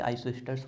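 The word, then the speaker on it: isosters: S silent होता है, आप चाहो तो स्पेलिंग के हिसाब से आइसोस्टर्स बोल सकते हो, कॉल्ड आइसोटर्स।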